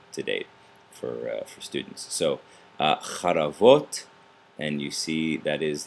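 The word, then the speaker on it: חרבות: But when we go to the plural, it reduces. So we have charavot. I should say the first syllable reduces, the second one elongates.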